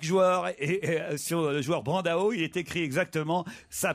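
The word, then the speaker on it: Brandão: Il faut prononcer en français. Autrement, c'est d'un snobisme.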